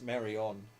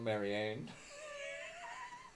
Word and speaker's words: Marion: But anyway, it's Marion, not Marianne.